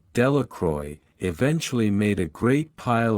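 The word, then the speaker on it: Delacroix: Jones and Dicky Delroy the villagers pronounced this name delacroy eventually made a great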